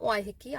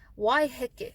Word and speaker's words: Waiheke: It's not Waiheke. I know a lot of you are probably thinking about all these pronunciations that were drilled into us that are now wrong. Waiheke. Wai is water. Heke is like the downward motion or to drop.